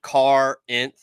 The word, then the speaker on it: Corinth: you real quick yeah it's like it's like Carr inth yeah yeah I've seen a lot of him